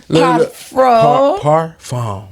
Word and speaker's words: parfum: Parfum. Like car, like car, bar, tar. Car. Farm. Parfum. Parfum. I have parfum. Wait, what was the They Jimmy make it Choo? so hard. Yeah. Parfum. Parfum.